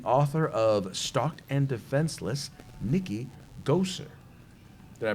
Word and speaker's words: Goeser: with us the author of stocked and defenseless Nikki goser did I pronounce it right yes you pronounced it correct